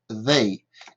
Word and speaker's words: they: Ce son-là, c'est A, d'accord? Donc, plus the, ça fait they.